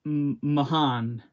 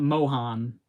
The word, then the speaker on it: Mohan: His name's pronounced Mahan, not Mohan.